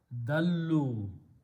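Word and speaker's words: ضلوا: We add an extra alif, which is not recited. And when you pronounce that, because of the waw, this is pronounced as dhamma. Dallu, they have gone astray.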